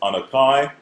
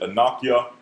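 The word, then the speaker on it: אָנֹכִי: anya okay there's another form okay which is pronounced on akai some may pronounce it anakia okay or anakin all right that's another way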